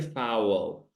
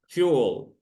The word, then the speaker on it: fuel: over here fowl uh don't say fowl fuel fuel fuel fuel yes right okay